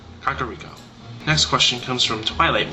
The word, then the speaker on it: Kakariko: Now this one is one that I pronounce right as it looks. Kakariko.